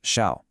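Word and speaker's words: 孝: Their primary role is defined by a concept that is absolutely crucial to understand, filial piety, or shao, pronounced shao.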